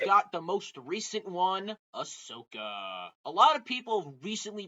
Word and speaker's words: Ahsoka: his real name BB stop that's the correct pronunciation fine BB stop so Ahsoka it good A lot of people have recently